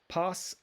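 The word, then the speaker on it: πᾶς: dictionary form for each every or all is pas pasa and pon and i put all three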